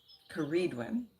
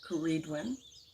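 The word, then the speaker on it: Ceridwen: mythology to the welsh sireedwin karidwin sorry it's pronounced that incorrectly kuredwin is a triple goddess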